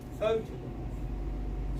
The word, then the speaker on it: photograph: So if I take a word like photograph, stress is on the beginning, photo, and then the unstressed is the graph, photograph.